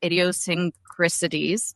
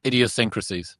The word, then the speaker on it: idiosyncrasies: and all of their idiosynricities. Can you say that word for me? Idiosyncrasies. Idiosyncrasies. I think so. It's it's one extra syllable I keep putting in there.